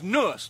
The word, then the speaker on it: Anus: Name's Nuss. The A is silent.